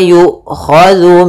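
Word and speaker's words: يؤخذ: Wala yu'khadhu minha, dzu hati-hati jangan sampai dibaca dengan zai gitu ya, tapi dia zal.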